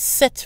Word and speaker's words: sept: But seven glasses is sept verres. We pronounce the T.